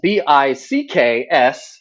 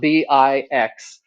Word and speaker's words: Bixler: I'm Bixler. That's Bicks, not Bix.